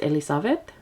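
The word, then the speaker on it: Ελισάβετ: So this is Elizabeth in Greek. It's pronounced Elisabeth.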